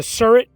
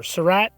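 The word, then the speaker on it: Surratt: then they head to the surret or sarat however you want to pronounce it i pronounce it surret the surah tavern at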